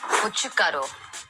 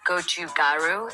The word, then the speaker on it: 고춧가루: This is the correct way to pronounce Korean food terms. 고춧가루, not gochugaru. It's 고춧가루. 불고기.